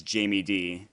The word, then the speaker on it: JamieD: everybody else you pretty much pronounce correctly, except I think it's Jamie D instead of Jameed. I made the same mistake. I called him Jameed, and they're like, and then the next game he typed out this.